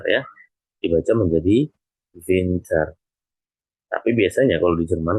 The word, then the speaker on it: Winter: Kemudian yang kedua, nah di sini jika hurufnya adalah W, tadi kan dibacanya kan V ya, dibacanya kan V. Maka ini menjadi Winter ya, dibaca menjadi Winter.